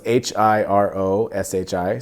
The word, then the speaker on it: Hiroshi: So it's Hiroshi, so Hiroshi.